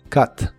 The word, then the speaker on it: cut: de inglés es Cut la u de esta palabra se pronuncia como a explosiva Así que es Cut Cut en muchas palabras de